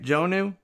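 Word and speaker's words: Jonnu: shucks well this script joe knew smith titans is how you say it jonu and rookie gold not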